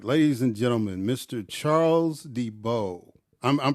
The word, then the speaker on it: DeBow: III all right ladies and gentlemen Mr Charles Debo I'm I'm pronouncing that right Debo right yes sir yes sir he's the uh